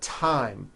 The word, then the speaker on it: thyme: spelled with a TH, they are pronounced as if they were spelled with a normal T, like that. And these words are Thomas, Thompson, Teresa, Thailand, Thames, like the river, Esther, and thyme, which is a spice.